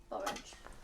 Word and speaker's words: borage: they taste like cucumber, borage flowers, and you put them in salads. Oh, that sounds lovely. Sounds amazing, borage. And is that how you... Is it pronounced borage, Windy? Borage like porridge?